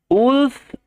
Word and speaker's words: wolf: আর এখানে উলফ শব্দতে ডাব্লিউ ও একত্রে উ sound হয়, যেটা আপনারা উ সাউন্ডের